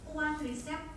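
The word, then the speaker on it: quadriceps: Nama grup ototnya adalah kuadrisep femoris. Ya, bedakan dengan yang tadi. Tadi kuadratus femoris, yang ini quadrisep femoris. Kuadrisep femoris. Bacanya C-nya jadi S.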